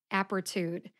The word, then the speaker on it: Apretude: let's go I'll start with the brand name apertude apertude has three syllables aptitude aptitude the first syllable app gets